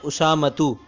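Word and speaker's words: أسامة: نام کیوں نہ ہو۔ جیسے میرا نام اسامہ ہے تو عربی زبان میں اس کا تلفظ یوں ہے اسامتو۔ اب اس کے آخر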